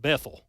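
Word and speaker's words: Bethel: We pronounce it Bethl. Okay. Uh but there's, you know, there's Bethl Baptist churches. There's Bethl Roads. There's all kinds of Bethls.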